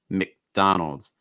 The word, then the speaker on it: McDonald's: mac like mcdonald's but it's not mac it's mick like what's the short i sound mick mick mcdonald's mcdonald's okay also usually